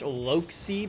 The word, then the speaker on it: Loxi: But wait, we see it's pronounced Loxi, by the way.